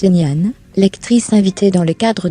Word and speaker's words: Ngan: Avec Ngan, prononce Nian, lectrice invitée dans le